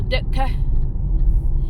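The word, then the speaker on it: Derker: We're going up through a place called Durka now, or Dutka. You know that Durka, its original name was Dirt Car.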